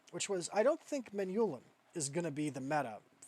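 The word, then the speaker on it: Manyullyn: In vanilla Minecraft, with Tinkers, the end game material is Menulin, or Menielin. I'm declaring jihad against anybody who pronounces it Menielin. I don't think it's Menielin. It's Menulin, guys.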